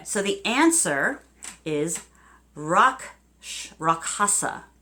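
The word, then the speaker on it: Rakshasa: it right anyway so the answer is rock rock hasa it's RAK sh a sa is the spelling but it is pronounced ROC Hafsa so there you go we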